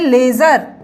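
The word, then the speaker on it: ledger: time recording करते हैं तो उसे कहते हैं लेजर ठीक है ना स्पेलिंग होती है एल ई डी जी ई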